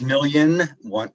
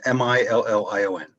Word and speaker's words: Million: It's Million, M-I-L-L-I-O-N. Okay, and it is Million. That's correct.